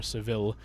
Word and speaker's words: Seville: After Seville, which is spelled Seville, they don't pronounce this la or Seville, but Seville.